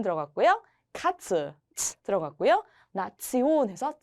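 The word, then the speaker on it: Nation: 때 테이오으로 끝나게 되면 온도 아니고 션도 아니고 지온이라고 했습니다 지온 그래서이 단어를 읽을 때 치온이라고 읽게 됩니다 여러분 리 우리 우리가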